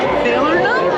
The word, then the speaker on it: Falernum: Falernum? I don't know what that Look is. at the cup is. Is that how you pronounce it? Falernum?